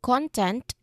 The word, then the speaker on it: content: Well, yes here we are going to put our stress on the first syllable which is the first word. So when we um when we stress in the first syllable content that is a noun.